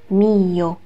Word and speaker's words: mio: 这里需要注意的是 mio，它是分开两个音节读的，发音 mio。